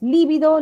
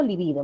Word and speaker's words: libido: diferentes tengamos cuidado ya no sé si es líbido libido menos mal que ahí nos ayuda también la escritura no Y la pronunciación también No si es libido esdrújulas y digo libido es grave y son palabras diferentes